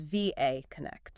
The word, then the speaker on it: VA Connect: And just to be clear on the pronunciation for everyone listening, it is VA Connect.